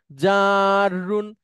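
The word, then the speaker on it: جر: আরবিতে উচ্চারণ, এই জন্য আমি বর্গীয় যাওয়ার পরে 3টা আকার দিছি, মানে একটু টেনে বলবেন, জাররুন।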